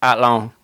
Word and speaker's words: Athlone: I was in Athlone. It's Athlone. Athlone. Yeah, no, nobody pronounces the TH.